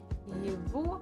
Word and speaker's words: его: Это его чашка. Его. So we write g, but we actually pronounce as v. Just it's a little bit easier to pronounce.